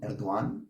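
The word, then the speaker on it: Erdoğan: como dijo mi amigo Emir herzajin erduan Así es como se debe pronunciar según él en Turco hay una entrevista sobre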